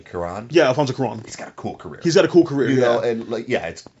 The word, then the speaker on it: Cuarón: I can pronounce his name. Cuarón.